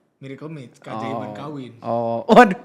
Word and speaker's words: Miracle Mates: Miracle mat. Mats bukan mat. Oh mat i mates. Oh mates. M. Iya mat. Dibacanya miracle mates.